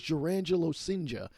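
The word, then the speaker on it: Jurrangelo Cijntje: I have played MLB The Show long enough to have actually faced Pat Venditti, but here is Jurangelo Sinja. Yes, I figured out how to pronounce his name.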